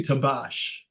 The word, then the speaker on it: Tabaash: Hey, let's talk to Tabash. And Sure. how do you say, how do I pronounce? It's actually Tabaash.